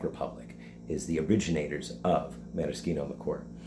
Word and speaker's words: maraschino: So maraschino is commonly said as maraschino, but the Italian pronunciation is maraschino.